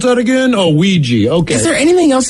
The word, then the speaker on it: Ouija: So it obviously it's I mean, that's why we have to go like, how do you pronounce that again? Oh, Ouija.